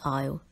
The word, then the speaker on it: isle: as easel or eyes'll the letter S is a silent letter word number four is